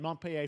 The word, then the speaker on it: Montpellier: the Game Bakers, a small independent studio in Montpellier, France, Audrey Laprince and Emmerich Toth. That's how you pronounce Montpellier.